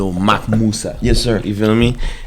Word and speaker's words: MacMuwsa: MacMuwsa. Yeah. Basically how you say it, that's how you pronounce it.